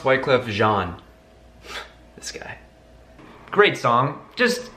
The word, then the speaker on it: Wyclef Jean: It's pronounced Wyclef Jean.